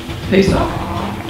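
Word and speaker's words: פסח: Maybe we might do something for Good Friday, but we don't really celebrate the how is it pronounced in Hebrew? Pesach. Say it again? Are you talking about Passover? Yes. Pesach.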